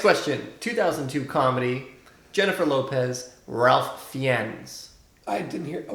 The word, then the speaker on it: Ralph: you said Ralph fianz you mean Ralph fines I think correct actually he pronounced his name Rafe rape fives I got